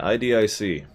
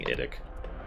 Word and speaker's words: IDIC: Yeah, IDIC. I don't like saying IDIC. I know that's how it's pronounced. I don't care. IDIC.